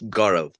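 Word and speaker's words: Gaurav: gav yeah hi hello how do you say your name my friend uh it's gorov g o beautiful yeah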